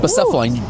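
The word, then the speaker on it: Blacephalon: Western Hemisphere, Bucephalon? Is that how you pronounce that? Bucephalon, perfect.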